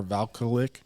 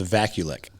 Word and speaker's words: Vakulik: Looking at some top players from Evergreen, quarterback Hunter Valkulik. Sorry if I butcher the name. It's actually pronounced Vakulik.